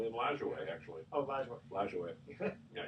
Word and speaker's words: Lajoie: The Naps because of the Napoleon Lajoie? Lajoie, actually.